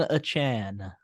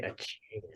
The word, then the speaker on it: Achane: Devon Achane. Yeah, I say Achane.